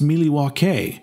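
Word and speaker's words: Milwaukee: that there you go um yeah actually it's pronounced miliwake which is Algonquin for the good land the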